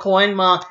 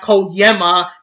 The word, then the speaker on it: Koenma: You're lucky he was actually called Koenma and not Koyema, since Emma was called Yema in the other dub.